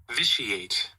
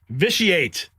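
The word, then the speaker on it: vitiate: Visiate. Visiate.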